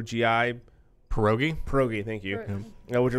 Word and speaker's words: pierogi: North Shore potato and cheese filled I can't pronounce the word P i er o GI pierogi pierogi thank you which are the busy they're